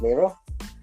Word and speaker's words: Miro: I believe it's pronounced Miro. Yes, it's pronounced Miro.